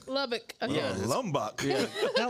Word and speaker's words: Lubbock: How you say it? Lubbock.